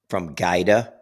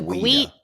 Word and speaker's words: Guida: From Gaida to Guida. So Guida Guida is right. Guida that is the original, mm-hmm.